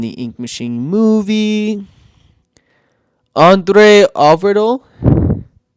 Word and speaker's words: Øvredal: Andre Overdo. How do we pronounce this? Hang on. Pronunciation. André Øvredal.